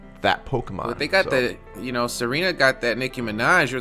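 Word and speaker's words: Tsareena: Yeah, and then there's Serena. Serena with the silent T. With the t silent.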